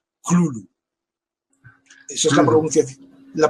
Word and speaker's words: Cthulhu: Por lo tanto, no hay una pronunciación real del nombre. Puedes pronunciarlo como quieras, porque lo pronuncies como lo pronuncies, siempre lo harás mal. Eh, mismo propuso una pronunciación y pero es una pronunciación que no que no ha tenido mucho éxito, la que propuso LCASF, que es Clulu.